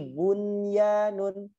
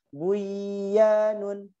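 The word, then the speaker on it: بنيان: Ada lagi bunyanun, nggak boleh bacanya buyanun, tapi bun, karena 1 kalimat atau 1 kata atau 1 arti gitu ya.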